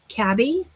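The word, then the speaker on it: Cabi: And you guys need to know this brand, Cabby. That's how I say it. I've heard people pronounce it Cabby.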